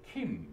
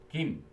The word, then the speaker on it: 김: 말라고 했어 왜냐하면 kim을 하는 순간 외국인들이 킴 이렇게 힘 그러잖아 그래서 김 요게 김 발음이 맞아요 너희들이 즐겨 먹는 김